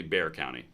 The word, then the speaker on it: Bexar: one's happening Medina County there is no Bear County yeah there is it's actually Bexar County is how it's spelled it's right there it's technically Bear County Bexar right next to Medina all right so